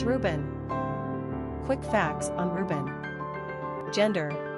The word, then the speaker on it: Reuben: popular Ben behold it's Reuben quick facts on Reuben gender boy origin Hebrew number of syllables two ranking popularity 898 pronunciation r o BN simple meaning Behold a